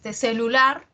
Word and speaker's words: celular: Pero su pronunciación, o sea, pero es aguda. ¿Por qué aguda? Porque la mayor fuerza de voz está en la última.